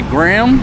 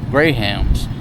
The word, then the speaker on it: Graham: here they don't say graham crackers you pronounce the h they're called Grahams a